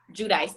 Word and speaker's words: Giudice: Giudice.